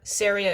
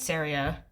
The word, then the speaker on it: Seria: Not to be confused with the country Syria. Saria is spelled Seria.